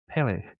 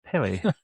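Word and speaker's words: Pelé: I know every time I hear, it's like when you hear it's Pele. It's Pele, not Pele.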